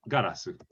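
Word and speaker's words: ガラス: this is gurasu and the glass in your window ironically is pronounced garasu but we don't these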